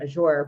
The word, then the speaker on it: Azure: I pronounce my name Azure, but that's the beauty